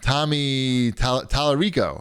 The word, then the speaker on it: Tommy Tallarico: And then Tommy Tallarico, right?